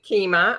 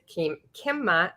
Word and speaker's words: Qimmah: Well, my name is Qimmah, and I pronounce it Qimmah, although the correct pronunciation for my name is Qimmah as well.